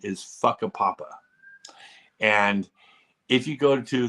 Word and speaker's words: Whakapapa: But the actual pronunciation is Whakapapa. And if you go to their homepage or their Wikipedia page, it says on the Wikipedia page, it makes sure that you know that the correct pronunciation is Whakapapa.